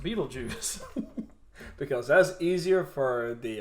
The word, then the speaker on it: Beetlejuice: Yeah, but it's still pronounced Beetlejuice.